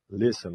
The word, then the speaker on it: listen: Listen. Observem o T mudo. Pula do S pro som de a listen.